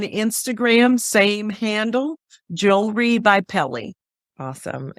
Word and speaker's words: Pele: Some people say, oh, Pele, like the soccer player. And yes, it's spelled somewhat the same without the accent on the E. Yes. The angu on the E. But yeah, it's different. So, or you can think